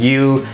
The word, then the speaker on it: YU: So it's very interesting to see the new U brand pop up. It's YU and pronounced U.